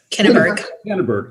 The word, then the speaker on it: Kinneberg: So they have, this last week, literally, Chief Rob, Lori, could you help me pronounce his name? Clark Pennington? Rob Kinneberg. Kinneberg.